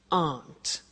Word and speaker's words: aren't: and they aren't cheap so the difficult here is the pronunciation of a not which is Aunt okay Aunt good so that's the negative